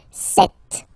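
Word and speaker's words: sept: all right then here remember p is not pronounced okay doesn't exist so you got this set sound set set okay and here final T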